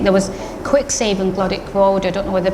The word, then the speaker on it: Glodwick: So I went to Glodick Infants. Sometimes pronounced a particular education officer in Oldham, when I taught in Oldham, used to call it Glodwick.